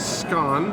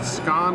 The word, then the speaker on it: scone: So, from what I gather, we take a scone. And yes, North America, it's pronounced scone and not scone.